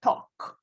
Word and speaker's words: talk: um talk raphael talk you have not to pronounce l you say talk yes okay thank you